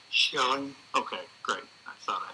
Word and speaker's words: Schelling: And tell me one more time the pronunciation of your last name, the correct? Schelling.